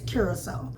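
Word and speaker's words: Curaçao: We always said it wrong. Curacao. But I think it's called... They said that it's officially, the correct pronunciation is Curacao. Curacao.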